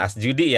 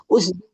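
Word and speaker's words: أُسْجُدِي: Asjudi. Iya, bukan asjudi ya. Kalau tandanya begitu itu bacanya u. Us coba Ibu. Usudi. Usudi. Iya.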